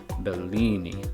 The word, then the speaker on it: Bellini: an Italian name, so the double L in Italian would be pronounced the same as it is in English, just a little bit longer, right? It would be Bellini, like that.